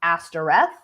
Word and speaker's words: Astaroth: And like, even when I say the name Astaroth, right? Like, also gets pronounced Astareth.